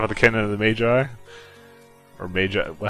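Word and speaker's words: Magi: we left off of the Canon of the Maji or Ma how do you wait can correct me how do you say yeah there you go it's Canon of the Maggie yeah so we're going to go kill uh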